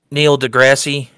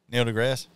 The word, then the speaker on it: deGrasse: interesting uh you've heard Neil Degrassi Neil deGrasse yeah yeah no I think I thought it was the grassy oh the E is silent I always thought it